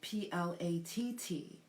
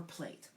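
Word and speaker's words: plait: The other way is spelled P-L-A-T-T. And to pronounce it, it's either plat or plate. Both are correct, okay?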